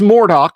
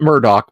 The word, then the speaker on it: Mordock: It's Mordock, not Murdoch, but Damien, yes.